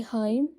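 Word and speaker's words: hymn: chat बोलते हैं और भजन को बोलेंगे हाइम इसमें जो एन है वह साइलेंट है दिव्य दृष्टि को डावन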